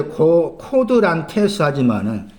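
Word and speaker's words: κοδράντης: 발음은 이제 코드란테스 하지만은 이 고드란트라고 말한 단어가 누가 12장 그 59절에 나오죠.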